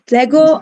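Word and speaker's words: λέγω: Lego.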